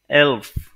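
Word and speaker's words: elf: অর্থাৎ যেটাকে আমরা ইংরেজিতে বলি ইলেভেন ডোয়েসরা বলে এলফ এলফ এর পরবর্তীতে আছে 12 কে ডোয়েসরা বলে সলভ সলভ ওকে তাহলে আমি যদি প্রোনাউন্সিয়েশনটা আরো একবার আপনাদেরকে দেখাই তারপরে অবশ্যই আপনাদের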